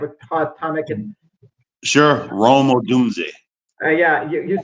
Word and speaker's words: Odunze: How do you pronounce his name? Dunze. I have a hard time. Sure, Rome Odunze.